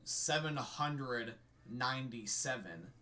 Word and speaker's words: 797: ninja part and then the rest of the numbers I pronounce it 797 some people call it black ninja seven nine seven like it's singular but I'm saying like it's in the hundreds category that's just how I'm